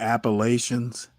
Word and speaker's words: Appalachian: I want to point out his pronunciation of the Appalachians. Someone corrected me and said it's Appalachian. It can be pronounced either way, folks.